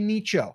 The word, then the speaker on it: niche: We're always going to pick a niche or a niche or a nicho, however you want to call it. I say niche because it rhymes with riches are in the niches.